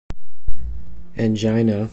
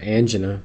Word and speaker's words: angina: angina or angina depending on how you pronounce it is the topic for this video